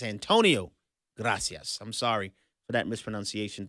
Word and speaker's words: Antonio Gracias: I mispronounced Mr. Gracias. His name is Antonio Gracias. I'm sorry for that misprononunciation. Thank you for that correction. Um, I greatly appreciate that. Antonio Gracias.